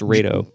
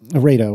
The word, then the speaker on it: RAID 0: It's pronounced RAID-O. RAID-O.